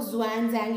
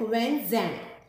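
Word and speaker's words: Xuanzang: दूसरे थे ये, इनके नाम में भी आपको ज़ुआन जैंग लगेगा बट we pronounce it like हुएन जैंग।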